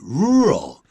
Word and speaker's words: rural: in the area right this is not an easy word to pronounce because it has two r's and an l and these sounds are difficult mostly for asian students so we say rural i used to live